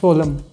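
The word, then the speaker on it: solemn: जहां पे जिसमें लास्ट में एम एन आता है उसमें एन साइलेंट होता है। यस सोलम।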